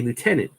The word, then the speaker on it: lieutenant: is so weird like Americans say Lieutenant if you look at it it's spelled lieutenant right it's a French word there's no F in there but for whatever reason